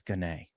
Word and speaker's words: Gane: There's an ampersand or some sort of little mark above the E, and now I'm going to say it's Gane. Gane.